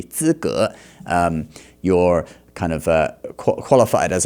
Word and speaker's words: 资格: He just pronounced that a little bit wrong. 资格. I don't know why he pronounced it like that, but 资格 should be 资格.